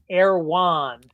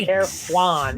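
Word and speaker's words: Erewhon: place around the corner called err wand yeah her wand it's like spelled like ER e HW om and it's the biggest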